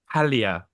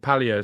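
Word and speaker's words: Paglia: that's what Camille um Pia you don't pronounce the G um Camille P Pia says you know they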